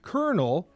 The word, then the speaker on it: colonel: But it's pronounced kernel spelled leg legitimately like a popcorn kernel because of the Spanish pronunciation of the word cornal, which I guess has some reference to popcorn.